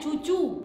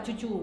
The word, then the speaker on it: cucu: atasnya jadi jumatu Mat contoh berikutnya cucu ejaan Van opusan ditulis t j o e t j o e terjoe terjoe kalau dibaca Eh kalau dibaca kalau dibaca sesuai huruf ya Wak ya dulunya sebutnya cucu juga tapi tulisannya TJ W J W terus ejaan Suandi oe-nya hilang jadi u tuju tuju bacanya tetap cucu tulisannya TJ u TJ